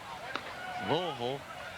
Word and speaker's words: Louisville: friday night in louisville that is the correct pronunciation louisville saturday at atlanta fulton county against the bravos